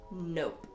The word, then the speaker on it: nope: I try reminding her the E at the end is silent because the O is taking all of its power. So instead of it being pronounced ah, it's O.